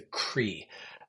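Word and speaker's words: Croí: is this uh Chapel which is called the cree it's spelled c RI in Gaelic and it means heart um and it really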